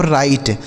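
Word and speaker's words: write: तो देखिए यहां डब्ल्यू जो है साइलेंट है। मतलब इसको नहीं पढ़ा जाएगा। लिखा तो जाएगा लेकिन पढ़ा नहीं जाएगा। इसे पढ़ेंगे हम राइट।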